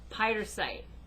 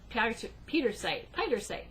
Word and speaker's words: Pietersite: And for those of you watching, all right, is Pietersite. Pietersite. P-I-E-T, Pietersite. P-I-E-T-E-R-S-I-T-E. So that way, those of you who are watching can Google it and see what it looks like. It's very pretty. P-I-E-T-E-R-S-I-T-E.